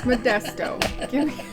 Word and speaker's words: Modesto: nice it was actually a very nice Park Modesto Modesto okay it's Modesto don't name your city's weird things the hardest